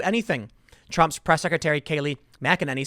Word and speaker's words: McEnany: No one is pressuring the FDA to do anything, Trump's press secretary Kayleigh McEnany said on Thursday. You know, I've been pronouncing her name wrong, and someone told me that. McEnany.